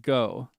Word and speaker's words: Gogh: It's called Go as in Vincent Van Go. Go O G H.